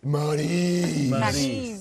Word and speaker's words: Maryse: No one can pronounce your name right. Did we botch it? Let's put it this way. It's Maryse. And I would be like, Maryse.